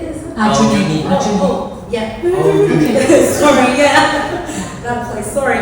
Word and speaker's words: Aljunied: I don't know how to pronounce this. Alchuid, is it? Arjuni. Oh, yeah. Aljunied.